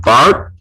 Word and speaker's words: Barthes: Stuart Hall was influenced by the work of Roland Barthes, that's how you pronounce it, as well as Ferdinand de Saussure.